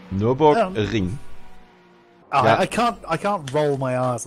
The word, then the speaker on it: Nürburgring: Nürburgring. Nürburgring. I can't roll my R's like that. Yeah. That rolling R sound is not in the English language. It's not actually rolled in German.